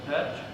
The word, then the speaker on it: Petch: Staffing, we have 1 hire, Petch at Parkside Special Ed. you want to stand There she is. Now say it correctly, Petch? Yep, Patch, Yeah.